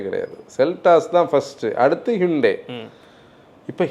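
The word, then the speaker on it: Hyundai: Seltos தான் first, அடுத்து ஹிண்டே. இப்போ ஹிண்டே எப்படி தெரியுமா சொல்லணும்? சண்டே மாதிரி ஹண்டே.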